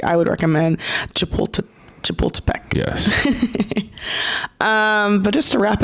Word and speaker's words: Chapultepec: and really good restaurants in, I believe it's pronounced Chapultepec.